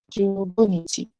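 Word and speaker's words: 十五日: So the way to pronounce 15 is ju, go, and then nichi. Jugo nichi. 15 日。 So the same goes for 16. So you just pronounce the number first, ju, and then roku, and then you add nichi. Ju nichi. And then 17, also the same. Pronounce the number first, and then add nichi.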